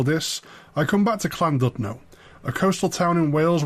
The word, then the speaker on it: Llandudno: say what you see I also mispronounced cland dno the Double L does its own distinct thing I got coached